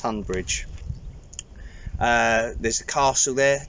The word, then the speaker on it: Tonbridge: school boarder tonbridge tumblr spelt on bridge but pronounced tunbridge uh there's a castle